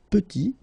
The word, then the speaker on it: petit: And then we get petit. Il est petit. Elle est petite. Okay, exactly the same idea. Final T is not pronounced.